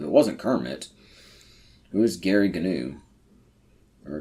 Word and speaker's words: Gary Gnu: Who is Gary Gnu? or Gary New is how that should be pronounced, but I'm gonna go with Gary.